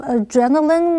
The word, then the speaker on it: adrenaline: Aiden 对于要考驾照感到有些焦虑。最后我们看的是 adrenaline 这个不可数名词。Adrenaline 是指肾上腺素，注意它的重音是在第2音节念成 adrenaline。也有人拼成字尾没有 e 的拼法，例如 Alex felt a rush of adrenaline when he was waiting at the starting line.